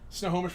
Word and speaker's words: Snohomish: the snow Snohomish Washington if you ever have a problem thinking about how to how to pronounce it just think about like a home that's covered in snow but only like halfway there so it's no home ish the snow home that's how I've always described it as I was